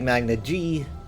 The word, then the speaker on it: Magna Ge: Secondly, though, I've always said Magna G, and some evidence for